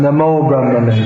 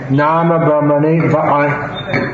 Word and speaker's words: Nama Brahmane: Sometimes devotees chant Namo Brahmane, but that's a complete mispronunciation. Nama Brahmane.